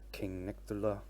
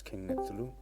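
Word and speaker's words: King Nectuluh: to pronounce my name i heard king nectar a lot but it's king neptuloo my name is an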